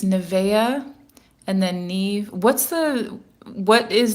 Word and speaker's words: Niamh: I always thought that was pronounced Neve. So it's Nevea and then Neve.